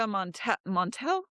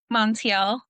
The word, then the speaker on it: Montiel: we have our beautiful Monica Montel. Do I say it right, Monica? Montiel. Montiel. Is that Yes. French? No. Spanish. Oh, it's Spanish. Okay, so I Yeah. have to roll something, but there's no R there.